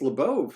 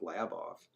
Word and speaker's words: Labov: responses from small children it's labove he was he was born in Rutherford New Jersey I figured that he was just you know pronounced it at a very American way like lab off but uh William LeBeau I will try to remember that now because I've never pronounced it that way yeah it was closer